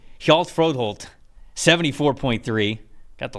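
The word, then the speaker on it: Hjalte: say his first name is it healt helal I I believe it is helal fro Holt 74.3 got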